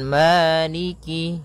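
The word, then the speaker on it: مَالِكِ: Maliki yaumiddin maiki yaumiddin pada bacaan Maliki di lafal Ma ada hukum tajwid berupa mad thii yaitu adanya fathah bertemu dengan alif panjangnya dua harakat Maliki kemudian Kaf di sini ada huruf kasrahnya maka sempurnakan kafnya jangan seakan-akan diputus misalnya Maliki malikiu jadi kemudian kasrahnya juga disempurnakan jangan sampai dibaca dengan E tapi dia I maikiiki yaumiddin pada lafal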